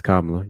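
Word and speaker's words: Kamala: Um, Hector, yes, Jonah, it's Kamla. You know, I got to do it to you. Oh, Kamla. Sorry.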